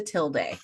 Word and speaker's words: tilde: And the name of that little swirly is a tilde.